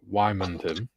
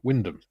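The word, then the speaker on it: Wymondham: Aaronville says, "People outside Norfick pronounce Wimon as Wyman. In Norfick, it's pronounced Windham spelled."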